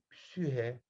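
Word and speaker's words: ψυχή: Yunanca'da psike, psühe şeklinde okunuyor. Grek arkadaşlarınıza yazıp okutun psike sözcüğünü. Psühe diye okurlar.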